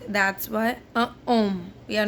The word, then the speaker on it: homme: Un homme, a man. H is silent. Remember, mostly in French language, H is mute. That's why un homme.